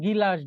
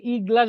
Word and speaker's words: গ্লাস: উচ্চারণটা কোথায়? উচ্চারণ, উচ্চারণটা গিলাস, গিলাস, গি, গি। আগে গর উচ্চারণ, তারপর হচ্ছে রস্যইকারের উচ্চারণ। আগে গ, তারপর রস্যই। কোনো ব্যঞ্জনের সাথে যদি কোনো স্বরধ্বনি থাকে, তাহলে সেটা স্বরধ্বনিটা পরে উচ্চারিত হয়, সবসময় এটা মনে রাখবেন। হ্যাঁ, তাহলে গিলাস, আমরা কিন্তু ই গ্লাস বলতেছি না, গিলাস, গিলাস অবস্থান শুরুতে কিন্তু উচ্চারণ শুরুতে না।